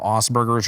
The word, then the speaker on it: Asperger: realized that I probably had what you call Asperger's or light level autism.